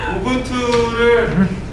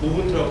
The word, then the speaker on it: 우분투: 운영 체제가 오분 투입니다 발음은 가급적 그 사람들의 이제 어떤 뜻이 있을 거잖아요 그죠 예를 들면 제 이름이 유명한인소 유밍 이렇게 하면 기분 나쁠 거 아니에요 그러니까 각적 우리끼리라도 발음은 분투 혹시 주변에 뭐 주변 사람들이 발음을 좀 잘못하면 우분 2라고 정정해 주세요 어이 우분투는 우분투 사이트